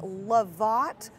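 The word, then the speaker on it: Lovot: right now it's the lavit robot it's like spelled like robot but with love in it because it's kind of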